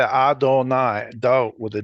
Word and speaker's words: Adonai: This I suffix in Adonai is technically a plural possessive, my plural something. But we've made it different from the plural possessive by pronouncing it as oi instead of I.